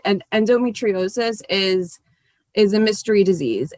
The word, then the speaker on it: endometriosis: correct and you have been battling with uh endometriosis did i botched that pronunciation endometriosis that's actually yeah a lot of people botch